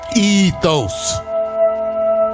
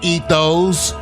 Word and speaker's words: ethos: __ ] is ethos say it right damn it ethos ethos not eat those eat those you know what not eat those it's not a direction to eat those it's ethos you sound like